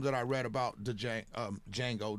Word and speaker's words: Django: But so one of the things that I read was one of the criticisms that I read about the Django, the D is silent.